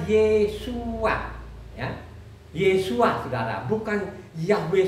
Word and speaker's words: Yeshua: Jadi Nehemia itu tidak baca lagi Yahweh Shua, tapi bacanya Yeshua.